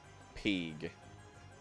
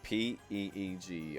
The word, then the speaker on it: pg: And yes, that is what PG is short for. Peeg. P-E-E-G, I believe. I think it's spelled that way. Whatever. But yeah, the voice actors will say Peeg.